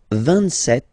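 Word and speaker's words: vingt-sept: pronounce it S, 26, 27, remember set, it was this P disappear, you don't pronounce it, 27, 28, so here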